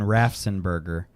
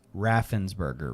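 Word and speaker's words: Raffensperger: I thought you were saying Rafenberger. What did I say? I think that's what you were saying and I was saying it wrong in my head and it's Raffensburgger, right?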